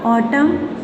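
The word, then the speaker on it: autumn: एम आ रहा है, एंड में आएगा एन और उससे पहले एम होगा तो एन साइलेंट हो जाएगा। ऑटम, hymn, column, ऑटम, hymn और कॉलम, इनमें एन आपका साइलेंट है।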